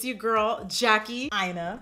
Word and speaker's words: Aina: Aina. Like China, please pronounce it correctly.